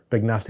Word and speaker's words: Big Nasty: It was at Wetherby, and all my Scottish friends will laugh at me, but I cannot pronounce Big Nasty, or I can, Big Nasty with a hard A, like I should.